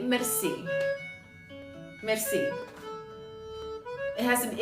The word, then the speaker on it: merci: If I change my vocal range, does that count if I say merci? No, it is not mercy, no, but it is spelled closely to that. It is M-E-R-C-I.